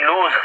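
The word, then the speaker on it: lose: लॉस लिखा हुआ है लॉस नहीं लूज ज है लूज पढ़ते हैं गजल वाला लूज लूज का मतलब होता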